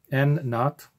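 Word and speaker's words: N₀: N naught. This is pronounced N naught.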